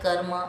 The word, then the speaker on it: karma: Have you ever noticed that Hindi speakers often pronounce words like karma and dharma as karam and dharam, inserting an extra a sound between r and ma, removing the ending a sound?